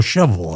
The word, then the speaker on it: Shelbyville: She took me down to, it was around Shelbyville. It was or Shovel, as they pronounce it here.